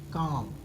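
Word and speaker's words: calm: sorry M के पहले अगर एम के पहले एल आता है तो क्या करते हैं हम इसका उच्चारण नहीं करते इसको ना मान लेते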